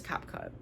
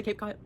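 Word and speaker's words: CapCut: Um any the third app I have on my list is Cap Cut. Some people say Cape Cut. I say Cap Cut because that's how it's spelled.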